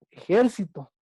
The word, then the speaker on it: ejército: Juan ya se ejercitó ayer, pero no es lo mismo que decir la palabra ejército, porque su sílaba tónica está en la penúltima. Yo siempre me ejercito. Y la palabra ejército ya es entre ahí al ejército, es una palabra esdrújula.